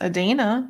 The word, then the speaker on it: Adana: Her name is pronounced Adana, which I learned last week.